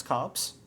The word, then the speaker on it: copse: I'm sorry uhal pronunciation no it's cops I'm good I'm ready you make me question myself too much is it with a b or a p c o p s e is how to spelled cops it's